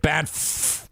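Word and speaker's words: Banff: to do in ban which that's how you say it ban b n FF ban Alberta it's like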